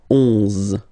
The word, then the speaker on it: onze: 11, 11, okay, so O plus N give you the sound on, onze, onze, okay, final E doesn't exist phonetically, onze, okay, douze, douze,